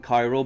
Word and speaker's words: KYRO: It's not spelled like Cairo, Egypt, Cairo. You know, it's KYRO. So it's a modern way of spelling Cairo, but when you say it, it's the same as Egypt, Cairo.